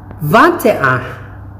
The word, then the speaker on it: vingt-et-un: Vingt-et-un. Yun kasing last letter in French, pag sinundan mo siya ng vowel, binabasa na siya.